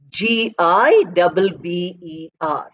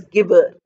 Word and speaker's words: gibber: G-I-B-B-E-R. Although G is very often spelt as G, pronounced as G, I'm sorry, not spelt.